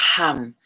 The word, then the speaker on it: Ham: Throat chakra, Ham, Ham, H-A-M.